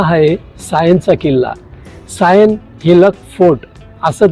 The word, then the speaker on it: Sion: उडाली असेल म्हणून त्यावेळी त्यांनी त्या शिव या शब्दाचं उच्चाराप्रमाणे स्पेलिंग लिहिलं एस आय ओ एन आणि त्यांच्या भाषेप्रमाणे त्याचं उच्चार सायन असं झालं की शिव हा शब्द